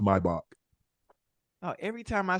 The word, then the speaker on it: Maybach: The way the Germans, the engineers, and the way the Mercedes, they pronounce it Maybach.